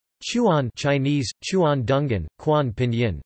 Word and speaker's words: Chuan: Chuan, pronounced Chuan, are small pieces of meat roasted on skewers over charcoal, or sometimes, electric heat.